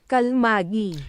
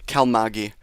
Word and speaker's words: Kalmaegi: I'm going to just double check the pronunciation of it real quick. I believe it is cal here. Kalmagi. Kalmagi. Kalmagi. That's the pronunciation of the storm.